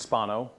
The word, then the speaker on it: Spano: other little piece so my name's pronounced Spano uh just for folks uh it's got a long vowel my Twitter handle is